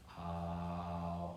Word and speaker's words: Om: And using that is beautiful because it basically has more like 3 syllables. So when we do it out loud, it's an A-U-M. Om.